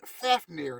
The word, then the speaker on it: Fafnir: north's mythology tree which we call ordrasil and fafnir that's f a f n i r who